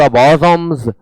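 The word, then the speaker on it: bosom: ऐसे बॉजोम, इसका उच्चारण बोजम होता है और इसका अर्थ होता है वक्ष स्थल।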